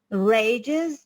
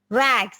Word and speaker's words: rags: you say from what rages the pronunciation is not rage rags right very good from